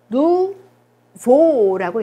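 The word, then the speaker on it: nouveau: 요거는 어떻게 읽을까요? 누보라고 읽어요. 오유가 결합을 하면 우 발음. 그죠? 으가 결합을 하면 오 발음이기 때문에 누보가 되겠어요.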